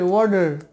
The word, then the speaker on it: water: দুটোই কিন্তু ভাওয়েল, তাই টি এর আগে এবং পরে যদি কোনো ভাওয়েল থাকে, ভাওয়েল সাউন্ড থাকে, সেক্ষেত্রে টি এর উচ্চারণ হবে ডি এর মতো, তাহলে এটা উচ্চারণ হবে ওয়ার্ডার, ওয়ার্ডার, ওয়ার্ডার, some of দ্য ওয়ার্ডার।